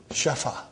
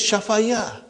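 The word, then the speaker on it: شفا: and it becomes shafa this yah is also alif because we are pronouncing actually it is shafaya okay but the lam kalima is ya it is nakis so we pronounce it as shafa shafa but then when you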